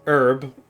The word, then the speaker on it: herb: It's it's a common it's a common misconception with H down here as well, Lawrence, because you don't pronounce the the H sound in H.